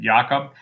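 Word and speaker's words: Jakob: chrysfeld jacob disease uh and jacob to us but they pronounce it jakub and then in in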